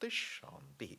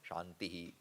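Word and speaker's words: शान्ति: that is a prayer shanti shanty shanti the way we pronounce It shant shant shanti not shantihi shantihi shantihi can be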